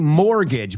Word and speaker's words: mortgage: her plate, including a mortgage. Vamos a pronunciar esta palabra, por favor, porque esta es una palabra que sí, se escribe de una manera, pero se pronuncia de otra.